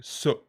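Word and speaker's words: 서: In the meantime, speaking of getting the job done, Chaeyoung So, somebody's corrected us on our pronunciation in the comments. Ben Wright says, I think Chaeyoung's family name is pronounced like Su.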